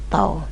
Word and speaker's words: tau: Tuliskan namanya adalah tahu tulisannya tahu cuman bacanya toh nah di mana tho